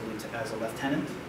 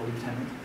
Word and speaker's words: lieutenant: left the Canadian Army as a lieutenant, not a lieutenant, even though it's spelled like that up there. It's actually a lieutenant.